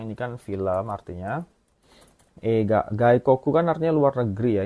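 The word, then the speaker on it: 外国: Gaikoku kan artinya luar negeri ya. Ini bacanya Gikoku. Gaikok ya. Ini bacanya gaikoku artinya luar negeri.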